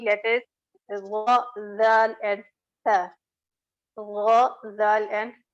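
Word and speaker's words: ذ: So these 3 letters will be pronounced: Tha, Zal, and Gha.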